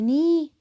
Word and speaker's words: knee: We have the knee pads. K silent. The K is silent.